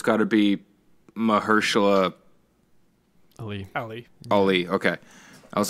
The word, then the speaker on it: Mahershala: So actors in a supporting role, I'm going to go with Mahershala Ali as the way you pronounce Mahershala. His name. Mahershala.